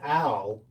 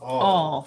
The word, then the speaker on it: awl: So an owl, what I was saying is owl. Carol Burton said it's pronounced all. Oh, yeah. Thank you, Carol. I saw that, like crawl.